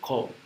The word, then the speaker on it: comb: you may call that comb. Comb. You don't pronounce B.